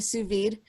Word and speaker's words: sous vide: threw that in the sous vide, and then I sous vide. Sous vide. I'm not sure. Is the D pronounced or? Yes, it is. It's pronounced. Are you sure? I am positive.